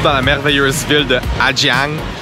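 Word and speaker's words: Hà Giang: Aujourd'hui, je me trouve dans la merveilleuse ville de Adjang. Les Vietnamiens, je crois qu'il prononcent Aziang. Le G est comme un Z.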